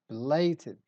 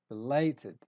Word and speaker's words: belated: Word number two is belated. We stress lay, belated.